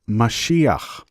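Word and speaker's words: משיח: The word below is pronounced Mashiach.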